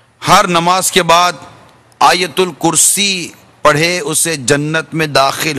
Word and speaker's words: آیت الکرسی: لکھا ہے ویسا کہیں۔ حمزہ پر مدہ ہے، یا پر زبر ہے، اور تا پر پیش ہے۔ آیت الکرسی، پھر کہہ